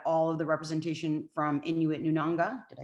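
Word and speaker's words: Inuit Nunangat: sure we had all of the representation from Inuit Nunanga.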